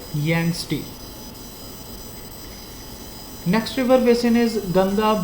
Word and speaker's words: Yangtze: It's called Yangtze. Pronounce it like Yangtze.